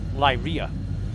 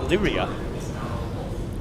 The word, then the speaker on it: Lyria: Now, a lot of people call it Lyria. I call it Lyria because there's a series of celestial bodies called Beta Lyria. And it's spelt differently, but because of that name, I call Lyria Lyria.